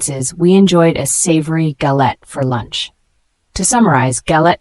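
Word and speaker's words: galette: with various fillings ings the word gallette g a l e t noun is pronounced gallet a flat round cake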